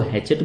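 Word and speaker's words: hatchet: तो बरी द हैचेट, यहां पे जो ये टी है ना बच्चों, ये वाला टी, ये टी यहां पे साइलेंट है। ठीक है। तो इसको हैचेट बोला जाएगा।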